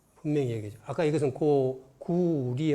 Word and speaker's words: 句麗: 그때 그 사람들은 구레라고 읽었어요. 그때 당나라 말로. 구리가 아니에요, 당나라 때는. 지금 북경어가 리입니다. 그러나 6세기 음을 보면 레로 나왔어요. 그러니까 레로 읽지 말고 리로 읽어라 라고 줄을 단 것입니다.